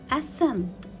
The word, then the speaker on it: ascent: And here I have ascent. Ascent. So here I will not read letter C because it is a silent letter.